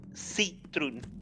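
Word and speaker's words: Citroën: makes sense like um 11 in Dutch is a Citron and it's spelled c-i-t-r-o-e-n like the French car brand basically about second episode the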